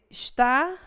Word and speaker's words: está: Quando que está é paroxítona? Está. Ela é oxítona, né? Ela não é paroxítona. Então já está errado. O que vocês colocaram na 301? Vamos ver a B. Está e número são acentuados